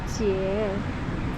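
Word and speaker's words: 節: 太好奇，想说那个字到底要怎么念，去查就发现那个字念节，所以它叫木下节太郎。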